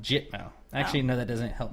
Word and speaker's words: Gitmo: Gitmo, yeah. It is. It's pronounced Gitmo. Actually, no, that doesn't help me at all. It's pronounced GIT-Mo. Is it Git or Jit?